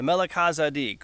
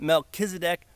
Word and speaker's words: Melchizedek: The Melech HaZedek, or however you want to pronounce it, Melchizedek priesthood.